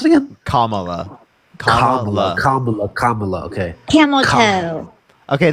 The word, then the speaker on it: Kamala: How do you pronounce it again? Kamala.